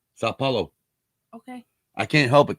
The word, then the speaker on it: São Paulo: sao paulo sao paulo it's not sand there's no n in it it's sao okay sao paulo okay i can't help